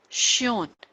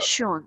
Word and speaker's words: schön: So thank you so much is Danke schön.